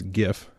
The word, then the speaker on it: GIF: known to me as GIF Steve will height says that it's actually pronounced GIF like the peanut butter I don't agree I'm